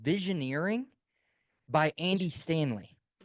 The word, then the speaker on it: Visioneering: Yeah, it's called Visioneering by Andy Stanley. How do you And spell that? Because I'm hearing three things all at once, yes, so it's vision, ear, ing. So like vision, mountaineering. yeah, vision, and then Vision ear, Eering, right?